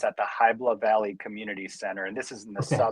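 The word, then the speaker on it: Hybla Valley: So September 13th, 9:00 am to noon and it's at the Hibla Valley Community Center.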